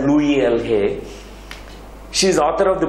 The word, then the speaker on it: Louise L. Hay: Louise L. Hay, it's pronounced as Louis L. Hay.